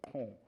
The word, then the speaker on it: !Kung: sometimes referred to as the Kong, which is usually spelled with an exclamation mark, K-U-N-G, the Click language-speaking hunter-gatherers